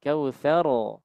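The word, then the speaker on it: الكوثر: jarang diketahui adalah tentang pembacaan huruf ra yang akhir yang harus dibaca dengan tafkhim. Nah, kesalahan umumnya bacanya tarkik. Jadi, tsar harusnya bukan tsar tapi adalah tsar tsar tsar. Jadi mengangkat bagian pangkal lidah kita.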